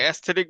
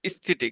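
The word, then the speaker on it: aesthetic: impurity সেটাকে adult rate বলা হয় তারপর এই এস্থেটিক বানানো অনেকে বলে এস্থেটিক উচ্চারণ করে এটা ভুল করে এটা উচ্চারণ হবে ইস্থেটিক ঠিক আছে ইএস দিয়ে হবে ইস্থিটিক কিন্তু বাংলাদেশে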